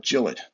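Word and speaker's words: Gillott: pen room and was told that the correct pronunciation of his last name on this pen is not July but Jill it I have lots of trouble referring for this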